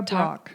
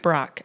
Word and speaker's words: Brach: Tara Brach. Brach, okay.